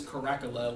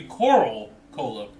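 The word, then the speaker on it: Coralcola: All this time, me and Nick thought it was Coracala, like without the L. Like it looked... Or I pronounced it that way, like without... like It looked like Cola. Yeah. But it's actually Coral Cola.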